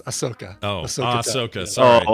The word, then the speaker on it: Ahsoka: Is it Ashoka? Ahsoka? Can you spell that? The H comes before the S, so it's Ahsoka.